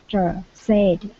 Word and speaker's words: said: everything that the instructor said. Okay. All right, let's go to the word said instead of said. Okay. Give me a short E sound.